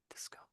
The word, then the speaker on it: discover: Discover. Let's Let's put that into dictionary again. Let's try that again. And where are they giving the emphasis? Yes, it's it's on the O, isn't it?